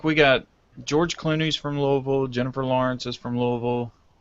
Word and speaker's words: Louisville: I need everyone to recognize the correct pronunciation of the word or the city. Louisville. Put a golf ball in your mouth and say it.